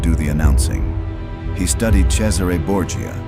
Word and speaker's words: Cesare Borgia: He studied Cesare Borgia, pronounced Chai-za-ray Bor-jah, carefully and what he admired most was not Cesare's cruelty.